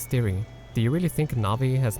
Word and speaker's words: Navi: within the dueling Peaks area called the three Nabi Lakes now sure the pronunciation is quite different but this is actually